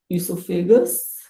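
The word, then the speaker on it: oesophagus: जो food pipe है उसका साइंटिफिक नेम है इसोफेगस। तो आप फूड पाइप को इसोफेगस भी बोल सकते हो। यहाँ पर ओ जो है वो साइलेंट है, तो जो स्पेलिंग है उसको आप ध्यान से नोट कीजिए।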